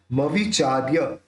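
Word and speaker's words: मविचार्य: निकलेगा अब प्रीतम वीर्य मवि चार्य मवि चार्य ये जो ऊपर र रेफ है या चा के साथ जोड़ के बोलेंगे मवि चार्य मृगी मृगेंद्र ना किन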